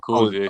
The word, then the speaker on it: Kouza: I want to make sure, just to clarify, I pronounced that right. Is Kouza? Yeah, Kouza.